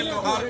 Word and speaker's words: लोहरा: के लोहार को उसको लोहरा कर दिया गया। जो अंग्रेजी में जिसका प्रोनाउंसिएशन LOHARA है, यानी लोहरा है, उसकी हिंदी में प्रोनाउंसिएशन उच्चारण लोहार था।